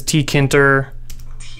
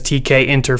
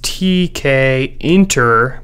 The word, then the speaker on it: Tkinter: to pronounce this is t k enter because the inter is short for interface so we're going to go with tk enter but feel free to